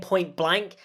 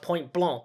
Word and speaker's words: Point Blanc: everybody pronounced point blanc everybody just kept saying point blank like no that's not how it's pronounced even characters like alan blunt say point blank and that really bugs me because i'm pretty sure there's a moment in the book where alan blunt corrects alex who calls it point blank and then alan blanc says no alex it's pronounced point blanc as in the french word for white anyway i just wanted